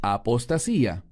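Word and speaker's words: ἀποστασία: La palabra aquí es apostasía en griego que se pronuncia igual.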